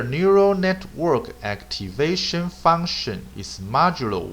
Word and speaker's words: modulo: Okay, MOD is pronounced as modulo.